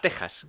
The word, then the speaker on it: Texas: Curiosidad lingüística, Texas y México siempre se han pronunciado con J, pero se escriben con X porque antiguamente la X se leía como J porque venía de la letra griega J, que es la X.